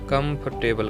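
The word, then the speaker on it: comfortable: एम एफ ओ आरटीएल बेलेंगे इसे हम कंफर्टेबल ने बोलेंगे यह गलत होगा वह एंड ऑल लेटेस्ट साइलेंट रहेगा इसे हम कंफर्टेबल कहेंगे कंफर्टेबल लिस्ट देखने एग्जांपल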